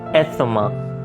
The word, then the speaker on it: asthma: Asthma, dama. So few people pronounce it like asthma या asthma. So ये एक तरह से गलत है, क्योंकि इंग्लिश में जो TH होता है उसको भी हल्का सा S वाला साउंड देते हैं, asthma, right?